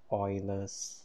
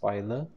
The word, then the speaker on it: Euler: we call this the euler's line now it's pronounced euler not euler or ruler right and there we